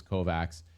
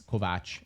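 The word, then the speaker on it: Kovács: Kovac, I guess. Kovatch is how you say it because I'm Hungarian.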